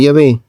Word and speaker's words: Yahvé: Por supuesto, la palabra Jehová nunca ha existido en hebreo, es decir, que la pronunciación Jehová es una pronunciación defectuosa del nombre de Yahvé.